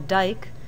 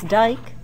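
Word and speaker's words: dyke: existing layers of sedimentary rock are called a dike, D-Y-K-E, or in the United States we usually spell it D-I-K-E.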